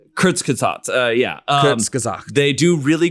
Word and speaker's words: Kurzgesagt: videos of is, I don't know how to pronounce it, Kurzgesagt, or it's In a Nutshell. It's a channel. Oh, Kurzgesagt. Kurzgesagt, yeah.